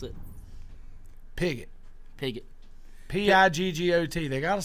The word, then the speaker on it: Piggott: You know how to pronounce it? Piggott.